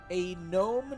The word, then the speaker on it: gnome: I will say with an 18, you do notice that you are saying the silent letters of words. So, okay, here. Say this sentence. Say the sentence. A gnome knight crosses the bridge.